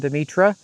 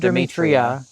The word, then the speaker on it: Demetra: Just for perspective, that's our beautiful fountain, Demetra. We mispronounced it in our tour. We said not Demetria. Demetra, after Demeter. Yeah, sorry about that.